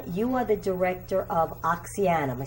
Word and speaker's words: Oxyana: you are the director of Oxyana. Am I saying it right? Yeah, Oxyana.